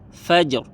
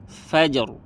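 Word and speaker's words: فَجْر: cara membacanya tebal contohnya kalau fathah Fajr Fajr Fajr maka di sini ro tebal contoh kalau dia e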